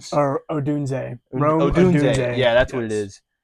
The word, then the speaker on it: Odunze: Odunes? Or Odunze. Odunze.